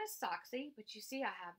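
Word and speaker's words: Soxie: a rescue dog so she spelled like the ball team socks s o X and I added the IE for fun so that's how she got her name and her name is sock C but you see I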